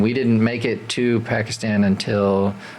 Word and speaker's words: Pakistan: So huge journey, and we didn't make it to Pakistan until, or if you want to say it properly, Pakistan.